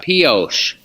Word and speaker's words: Pioche: Pioche.